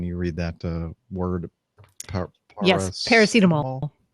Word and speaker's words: paracetamol: Yes, paracetamol. Paracetamol is how it's pronounced.